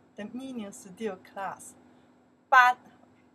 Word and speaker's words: 班: It's not 课 This one we pronounce the 班 The meaning is still class. 班班 still class.